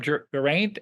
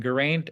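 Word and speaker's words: Geraint: Lancelot in the marriage of Gant and Gant and Enid is how it's actually pronounced uh the fact that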